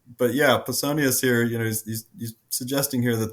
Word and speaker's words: Pausanias: I say Pausanias, like Paul.